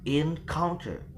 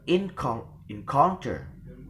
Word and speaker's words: encounter: And the second is when the stress on the penultimate or such the example is encounter. So the the stress is given in the penultimate of the syllable, or we can say that the first the first word or the first voice of the second syllable. Encounter, we will never pronounce it as encounter or encounter, but encounter, like that.